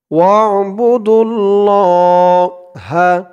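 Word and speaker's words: واعبدوا الله: ওয়া'বুদুল্লাহা ওয়ালা ওয়া'বু ওয়াও দিয়ে আইন ধরবে, ওয়া আইনের উচ্চারণটা গলার ভিতর থেকে শক্ত হয়ে আসবে।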